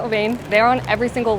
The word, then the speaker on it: Levain: We just went to Levain, which from an inside source is actually pronounced Levon, I think, but that feels a little bit wrong to me, so I'm going to keep calling it Levain.